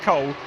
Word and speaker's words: Cool: What a great name that is, particularly as we've got Michael Cool on the grid as well. We've got Hott and Cool, although I'm told it's pronounced Cole, but it is Damir Hott